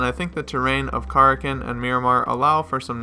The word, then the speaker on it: Karakin: name of Corrigan now you might have heard kurakin before I've even said that on my channel before I knew the correct pronunciation or even Carrigan but it is in fact Corrigan and being two by two it's a quarter